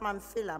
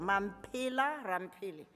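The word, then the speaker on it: Mamphela Ramphele: you pronounce my name it's not mancilla man pila rampili i'm a south african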